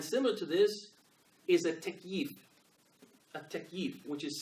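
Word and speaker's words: تكييف: Takyif. Takyif. If you wanted to spell it in English letters, you say T-A-K-Y-E-E-F.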